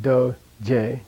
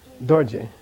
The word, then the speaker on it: dorje: This is not do-je. This is dorje. Okay, and that happens with a very, very few words.